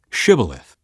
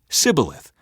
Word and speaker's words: shibboleth: said no i'm not they would tell him to say shibboleth if he was from ephraim he would say sybileth because people from ephraim cannot pronounce the word correctly then they would take